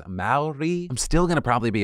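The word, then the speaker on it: Māori: was the incident where I think I said Maori, and I'm not even sure if I was that off. I don't like going back and viewing my mistakes, but I wanted to acknowledge it. It is Maori.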